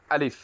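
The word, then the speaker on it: ألف: আলিফ উচ্চারণ কিভাবে করছিলাম মনে আছে তো? উপরে 2 দাঁত, নিচে ঠোঁটের বীজ অংশতে লাগবে, লাগা। জি, বীজ অংশটা লাগবে।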